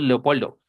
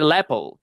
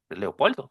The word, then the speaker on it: Leopoldo: que son nombres latinos, pues habría que pronunciar Leopoldo, este porque podrían decir Lepel, pero if your name is Leopoldo, pues Leopoldo van a tener que decirte eo eo.